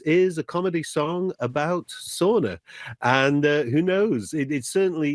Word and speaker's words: bastu: This particular track, Bara Bara Bastu, that you just played there, is actually a song all about sauna, or sauna, as I believe they pronounce it there.